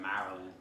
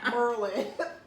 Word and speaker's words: Maryland: So I wanted to move to Maryland, but Maryland's expensive like New Jersey. It's almost as expensive. So she said Maryland.